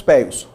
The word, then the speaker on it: peius: Escrevemos pejus, pronunciamos peius.